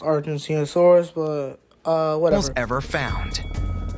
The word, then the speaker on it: Argentinosaurus: among them the biggest it's pronounced Argentinosaurus but uh whatever ever